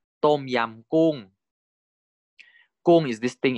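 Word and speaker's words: ต้มยำ: Tom yam kung.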